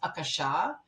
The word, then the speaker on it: Akasha: Akash, so the word Akash, by the way, it's actually pronounced Akasha. So if we're really going into pronunciation, we call it the Akash or the Akashic Records, but Akasha is the actual pronunciation.